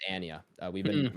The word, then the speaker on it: Anya: interview with her and she pronounced her name Anya Anya really it's it's Ania uh we've been wrong